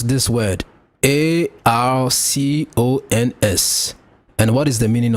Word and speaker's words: archons: The word a r c o ns is pronounced as ar cons with emphasis on the first syllable. are like an arc and cons like in icons without the eye.